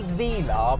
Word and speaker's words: Velar: here is a 1969 Vela and I say Vela because that is the correct way to pronounce the name now the new car is called a Vela for reasons nobody really can tell me but